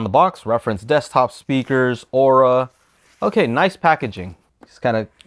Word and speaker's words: ORA: Joe Mariano encloses a set of our newest powered speakers, ORA, pronounced ORA.